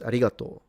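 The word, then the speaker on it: ありがとう: They write arigato u. They do write it like that. But they don't pronounce it. It's arigato.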